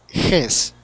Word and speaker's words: his: it's up like that I want you to lower it like this uh his his yes his his his so practice and you'll need to get a mirror in front of you and lower your tongue down so it will be flat when you make that sound ha yeah is right